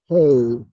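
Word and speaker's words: phat: But pat is pronounced pay. Well, at least that's the way the Tibetan Buddhists would pronounce it.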